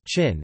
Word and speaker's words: Qin: The name Qin, pronounced as Qin, is believed to be the etymological ancestor of the modern-day European name of the country, China.